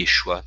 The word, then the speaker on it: Yeshua: de duas formas diferentes, Yeshua e Yeshu. O primeiro por ser o nome verdadeiro, e o segundo por ser uma pronúncia antiga, incorporada ao judaísmo rabínico, que para alguns teria o tom pejorativo, como falamos, e para outros seria tão somente um nome comum pronunciado de forma reduzida.